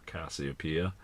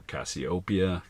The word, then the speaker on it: Cassiopeia: There's a bunch of them up here in the Big W, as they call it, or Cassiopeia, or Cassiopeia, depends on how you want to pronounce it.